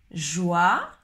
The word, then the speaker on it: joie: Joie, le OY se prononce comme le OI, wa, joie, joyeux, joyeux, joyeux.